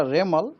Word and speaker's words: Remal: उनको नाम होगा रेमल रेमल प्रोनंसिएशन होगा रेमल उसका स्पेलिंग आए आर ई एम ए एल रेमल यह नाम एक्चुअली